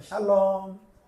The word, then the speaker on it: 샬롬: 샬롬 그래 한번 해봐 샬롬 발음을 잘하세요 다시 한번 샬롬샬롬 앞이 높아요 샬롬샬롬 그렇게 하는 거예 평안하냐 평안 평안 평안을